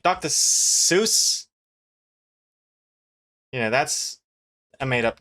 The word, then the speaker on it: Seuss: Seuss is Seuss. As in rhymes with voice. Dr. Seuss is the original pronunciation, not Dr. Seuss.